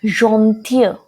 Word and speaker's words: gentille: Where it is ending with E, it is gentil. Gentil, you can compare it with the pronunciation of fear, the girl.